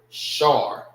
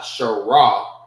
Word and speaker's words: Shar: Shar. Not Shara. It's Shar. Shar, S-H-A-R, forms one word.